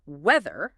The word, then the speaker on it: weather: Weather. Make sure you use the voice th sound here like in the weather. Not wetter with a d or woer with an s.